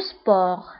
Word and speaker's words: sport: فأولا الرياضة هي le sport. Le sport. Le sport. فبالنسبة لو سبور كنكتبوها بالتي في آخر الكلمة ولكن لا تنطق لو سبور.